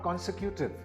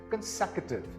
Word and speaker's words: consecutive: This is not consecutive. This is consecutive. Again, this word is consecutive.